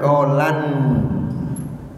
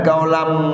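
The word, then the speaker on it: قَوْلًا: mim, mim kan, maka di situ tidak boleh dibaca kaulan. Harusnya kaulam. Oh begitu, iya kaulam. Sebab menurut ilmu tajwid, kaulan tanwin fathah bertemu dengan huruf mim itu hukumnya idgham bi gunnah. Maka harus dibacanya kaulam.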